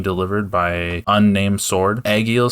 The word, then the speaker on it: Egil: in pronouncing his name, it is the word egg and the word eel, right? Is that what you're getting from it? Egil.